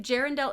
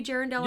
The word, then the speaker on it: Jirenell: Are you Jaredell on YouTube? Jirenell on YouTube. Yeah. Fabulous. And that is spelled like it's like a combination of Jeremy and Arendelle, like in Frozen.